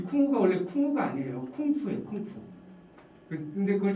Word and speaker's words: 쿵푸: 그러니까 우리가 여러분 소림사에서 쿵우라고 들어보셨어요? 쿵우? 네. 이 쿵우가 원래 쿵우가 아니에요. 쿵푸예요.